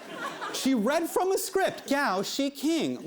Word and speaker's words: Gao Xiqing: This is the fund's president, Gao Shiqing. Yes, it rhymes with ka-ching.